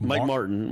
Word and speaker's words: Martin: apparently somebody said that I wasn't pronouncing the T and Martin I guess under say Mike Morin like Mike Martin Mike Marra yeah I'm aren like Martin yeah Mike Martin Mike Mike Martin jr.